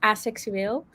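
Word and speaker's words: aseksueel: Asexual in Dutch is for is pronounced asexueel, and one time I was like, wait, does my dad even know my sexuality?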